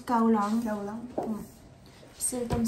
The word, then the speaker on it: Kowloon: Et le dernier, du coup, c'est Kowloon. Et ça se prononce Kaolang.